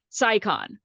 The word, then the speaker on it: SciCon: You got it right the first time. SciCon.